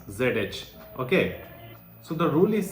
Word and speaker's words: zh: so how to pronounce zh okay so the rule is saying that you have to pronounce zh just like you pronounce the the dge part of Judge okay the dge part